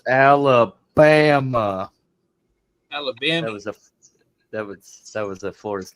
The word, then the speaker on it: Alabama: refer to Alabama as Alabamy because it rhymes with Mammy. I don't know. I got to go back and hear that song again. It's been forever. It's pronounced Alabama.